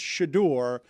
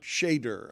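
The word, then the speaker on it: Shedeur: So I I will let you know it's Shadore, not Shader.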